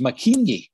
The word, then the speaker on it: Mackenzie: zed as menses and mackenzie gets the same but for example when i was growing up in airshire it was making or making it was pronounced because of the the york and then and very few ever i think everyone knows the l is the yog uh that it's the the u sound but they're still examples